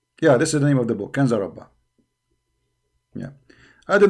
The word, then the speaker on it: Ginza Rabba: So here they are pronouncing it Kanza Rabba. You see it? Kanza Rabba. Here in Wikipedia they pronounce it as G. Ginza Rabba.